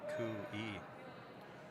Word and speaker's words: Koe: But I think because their third shot, they're going to make a play on Koi's stone. Oh, you're getting corrected here. His last name is pronounced Kui. Kui. You're saying Koi.